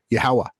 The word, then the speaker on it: Yahawah: on the creator's team, the original phonetically pronounced name of the creator, Yahawah, YHWH, Yahawah. And he manifests in this reality in an avatar as Yahawashi, right?